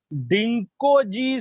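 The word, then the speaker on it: Dingko: डिंकोजी, आपने इसका नाम नहीं सुना होगा लेकिन मैं आपको बताता हूं कि डिंको जी, देखो इसमें जी साइलेंट है, डिंको जी।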